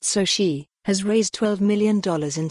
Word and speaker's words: Soci: And Khoury's startup Soci, pronounced soh-shee, has raised $12 million in Series C funding to help companies navigate that shift.